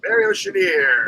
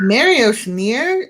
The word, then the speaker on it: Mary Oceaneer: Let's move on to our next member, Mary Oceaneer. Gotta say it like that. Mary Oceaneer. Mary Oceaneer.